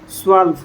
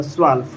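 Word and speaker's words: zwölf: 11 को एल्प बोला जाता है और 12 को स्वल्प बोला जाता है। स्वल्प।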